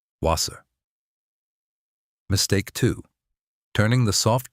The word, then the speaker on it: Wasser: Mistake one, pronouncing the w like an English w, it's not. It's always a v. Wasser Mistake two, turning the soft ch into sh.